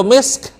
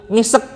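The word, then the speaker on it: مسك: kan sebagian belum bisa jadi bacanya khitamuhu misek gitu khitamuhu misek nah gitu kan Kalau sebenarnya khitamuhu misk misk gitu ya tapi enggak bisa nih susah baca misk jadinya misk gitu oke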